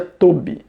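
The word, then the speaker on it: טוב: tá a palavra bondade do hebraico é se pronuncia tob Tá OK a palavra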